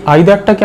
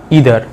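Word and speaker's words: either: এটাই আইদারটাকে আমরা দুভাবে উচ্চারণ করতে পারি, হয় আইদার না হলে ইদার। নাইদারটাকেও ঠিক একইভাবে হয় নাইদার নয় নিদার। তোমাদের যেটা পছন্দ সেটা তোমরা উচ্চারণ করবে, দুটোই ঠিক।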